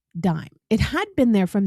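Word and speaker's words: disme: And in the early age of the Republic, it was spelled d i s m e, even though it was still pronounced dime.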